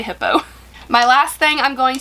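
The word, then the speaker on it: Hiipoo: spelled h-i-i-p-o-o so like I've heard some people say hi poo I don't know it's got a picture of a hippo on it so I just say hippo my last thing I'm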